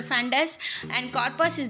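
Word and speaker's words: fundus: ये spelling mistake है, actually it इज़ नॉट फैनस, इट इज़ अ फंडस, and corpus is the body and इट इज़ a pyloric antrum.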